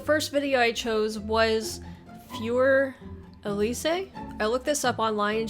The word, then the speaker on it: Für Elise: and it looks like the german way of pronouncing it is fjor elysee i know here in america we say fur elise at least that's the way i've heard it